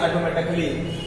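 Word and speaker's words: automatically: ए है ही नहीं जिस शब्द में जहां कहीं भी ए के तुरंत बाद डबल एल वाई होगा तो आप वहां पर ए को साइलेंट पढ़ेंगे जैसे ऑटोमेटिक ऑटोमेटिक म देखिए यहां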